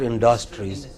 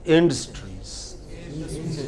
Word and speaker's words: industries: pronunciation can go wrong what is the pronunciation of the first word here it's not industries it is industries what is it yeah but a lot of people said industry it is not industry it is industry what is it mainstream